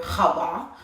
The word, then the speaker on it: Chava: My second is Shava, and it's actually pronounced in Hebrew Chava.